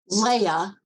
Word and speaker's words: Leia: associate ah yeah okay because the way it's spelled I could it could be Leah it could be it could be Lei it could be Leia well the I is